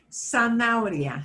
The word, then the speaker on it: zanahoria: But I want you to see an H can be like right plain in the middle of the word. And that really causes us problems pronouncing because it makes like lots of vowels and what do I slide together?